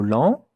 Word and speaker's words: lent: The T at the end, you don't hear it. When it is not with a E after it, most of the time you don't hear it. So, here it's not an exception. Lent, it ends with a T, you don't hear the T.